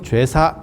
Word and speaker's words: 제사: 그래서 예전에는 이 글자를 제자 발음을 한 게 아니고 죄자 발음을 했었어요. 그래서 저희 어렸을 때만 해도 제주라고 안 하고 죄주, 이렇게, 제사가 아니고 죄사, 이런 식 발음들이 있었는데,